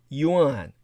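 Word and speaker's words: 缘: the tie is called yuan like the word money but it's pronounced the same way as round round soybeans symbolize forming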